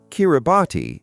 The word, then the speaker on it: Kiribati: Kiribati is the local pronunciation of Gilberts, after the Gilbert Islands, which were named by outsiders after a British captain.